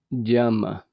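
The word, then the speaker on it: यम: prática em sânscrito é jama y a m a a pronúncia do Y é como uma um D jama esta prática inclui um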